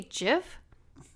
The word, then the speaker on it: GIF: also sorry go ahead you say jiff yeah that's how it's pronounced oh what do you